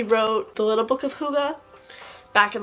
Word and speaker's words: Hygge: And we are reviewing this book, which is my Hygge, that's how you pronounce that, Hygge Home by Mick Viking, and it's 2022.